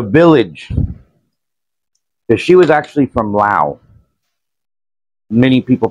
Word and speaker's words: Lao: like the The Village she was actually from Lao many people pronounce it l but pronounced it la la